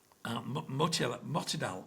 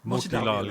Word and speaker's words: Motilal: Motidal, is that the right pronunciation? Motilal, yeah.